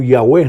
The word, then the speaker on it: Yahweh: como Jehová en realidad en hebreo la palabra Jehová solo tiene consonantes no tiene vocales Tal vez porque los judíos Se sentían indignos de pronunciar la palabra de Dios Entonces Dios se identifica en realidad como Yahweh no tiene No tiene